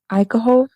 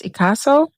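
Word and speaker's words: Ichaso: I've been calling her Ikaho, Chelsea Ikaho. And yesterday I realized that her name isn't Ikaho. It's Ikaso, Chelsea Ikaso.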